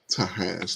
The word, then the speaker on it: Tahash: Tahash, like succotash.